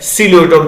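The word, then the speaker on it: Psilotum: Example लिखा गया है सिलोटम, थोड़ा ध्यान दीजिएगा, पी साइलेंट रहता है यहाँ पे।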